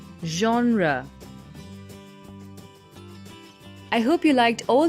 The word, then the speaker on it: genre: like pop or classic its right pronunciation is genre i hope you liked